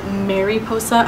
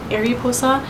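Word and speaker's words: mariposa: did pronounce it wrong instead of Mary posa I said Arosa and actually when I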